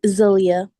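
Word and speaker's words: Zaliyah: Zelia. Yeah. Zelia. Zelia. All right. Let me spell it.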